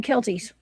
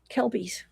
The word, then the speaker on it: Kelpies: Also, I do one more thing before we move to the Kelties. Kelpies.